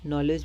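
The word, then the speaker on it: knowledge: नॉलेज में के हमारे पास साइलेंट रहता है।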